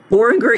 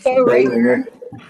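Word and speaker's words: Boehringer: So racetrack, Boringer, Ingelheim, that I can't pronounce, and Weed Lee, Warriors. it's Bowringer. Bowringer. Yes. Bowringer. Thank you.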